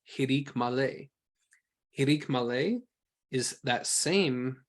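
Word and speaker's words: hiriq male: Hirik Malay, or hirik Yod, is pronounced E, as in ki.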